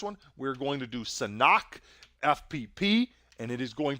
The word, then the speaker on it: Sanhok: Don't say Sanhok either. Sanhok. The H is silent, not an American word.